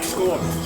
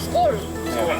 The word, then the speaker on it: Skål: Skål. Skål.